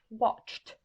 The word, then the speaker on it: watched: On prend watched, d'accord? Les 2 dernières lettres, CH, est-ce qu'elles sont dans le tableau? Oui. Et on voit qu'en face de CH, ça donne le son T, watched.